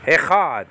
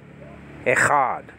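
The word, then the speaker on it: אחד: So Echa, and then the final syllable is capped off with a D sound, Dalet.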